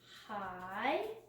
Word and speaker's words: high: Give high. High is spelled with a really neat team of letters. I-G-H says I.